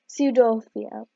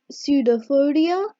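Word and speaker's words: pseudopodia: It pushes out finger-like ejections called pseudophodia. So the P is silent over there.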